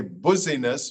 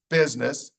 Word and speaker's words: business: You would think that would say busyness, but no, it's business. English is a crazy language, rule number one. But the S sounds like a Z and the U sounds like an I. So it's business, not busyness.